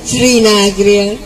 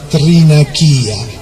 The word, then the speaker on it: Thrinakìa: Il nome mi ha molto colpita, a dire la verità, perché non è Trinacria, si chiama Trinachia.